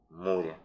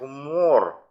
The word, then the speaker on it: Moore: Сразу по традиции обращаю ваше внимание, что фамилия вообще-то его произносится правильно как Мор, между У и О. Но мы будем говорить, как привыкли, как нам дает Википедия, русскоязычная версия, Мур.